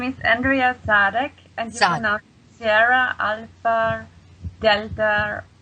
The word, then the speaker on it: Sadegh: and Misha so well it's how do you pronounce it darling um hi Misha my name is Andrea sadic and you SRA ala Dela Hodel um and